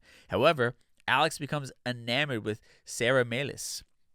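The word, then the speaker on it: Sara Melas: Alex becomes enamored with Sarah melis or melis I think they pronounce it Sarah melis in the movie played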